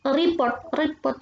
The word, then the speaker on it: rapport: Rapport itu report bacanya rapport ya.